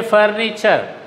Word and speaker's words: furniture: The T is pronounced as cha. See, creature. In the same way, furniture.